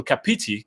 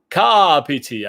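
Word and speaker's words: Kāpiti: our terror and call kapiti can you please note that the stress accent from pronunciation is on the first syllable syllable but not on the second one car pity i guess i am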